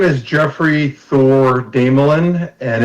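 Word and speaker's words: Desmoulin: My name is Jeffrey Thor Damelin, and it's spelled D-E-S as in Sam, M-O-U-L-I-N.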